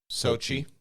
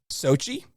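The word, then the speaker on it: Xochitl: be like hey patty xo is pronounced s-o and that cheetle is pronounced chi so it's sochi sochi sochi gomez cool thanks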